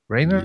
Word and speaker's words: Rainer: So let's move over to our guest, Rainer. Yes. Rainer. That's how you pronounce it?